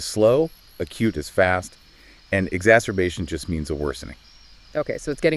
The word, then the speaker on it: exacerbation: So acute exacerbation. And that is pronounced acute exacerbation. Acute exacerbation.